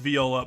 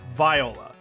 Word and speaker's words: Viola: v olola v the music instrument is pronounced Viola but let me tell you there are some people with that name that pronounce it Viola it is in my area it's more